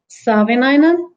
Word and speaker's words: Savinainen: Savinainen? Yes, Savinainen. like it's spelled.